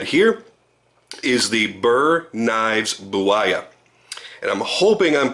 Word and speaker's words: Buwaya: What we're looking at here is the Burr Knives Buwaya. And I'm hoping I'm pronouncing that correctly. Buwaya.